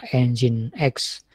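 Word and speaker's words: nginx: Jo atau enjen XC atau mungkin orang bacanya dongeng itu tapi sebenarnya bacanya engine.exe jadi yang populer itu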